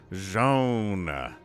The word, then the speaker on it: Zoun: rainer bottom left we have joan which is how somebody told me he pronounces it but it's different from how tastosis pronounces it but i'm gonna go ahead and stick with zhaon all right all right